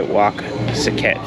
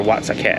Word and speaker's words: Wat Saket: and that was by Wak Saket. Or Wat Saket, I believe it's pronounced.